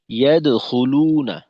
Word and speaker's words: يدخلون: ورأيت الناس يدخلون في دين الله أفواجا এখানে ইয়াদখুলুনা, এখানে দালের উচ্চারণটা যেন ইয়া দো উকার মুখী না হয়, ইয়া দো না, ইয়াদ, ইয়াদ, ইয়াদ সোজা সুজি রাখা।